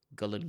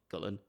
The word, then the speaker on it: Gullane: picked up the phone and she said, "Hello, Gullen Golf Club. Lisa speaking. How can I help you?" And I was like, "Hello." Okay. So, it's Gullen, is it?